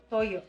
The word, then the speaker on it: toyo: And then I got, Toyo. Toyo. Is that how you say it in Tagalog? Tagalog, yeah.